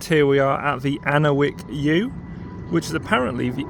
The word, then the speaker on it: Ankerwycke: I think I've pronounced that wrong many times so far, but I think it is pronounced Ankerwycke. So it looks like we're